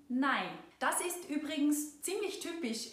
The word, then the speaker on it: nei: Wie ihr vielleicht gemerkt habt, wird das Oi in 9 zu einem Ei in Nein.